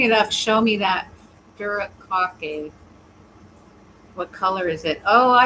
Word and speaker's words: furikake: Sure, I'd say Furikake. Phonetically, like Furikake, with a stress on the second syllable. Faraya cookie? Yeah, exactly. Furikake.